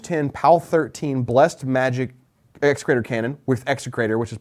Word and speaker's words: Execrator: Someone, Kogrin, is complaining that we cannot pronounce excruciator. That's because it's not that word. It's execrator. E-X-E, crater. Execrator. It's not excruciator.